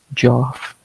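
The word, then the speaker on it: Geoff: Joff that's how it's spelled. It's not Jeff.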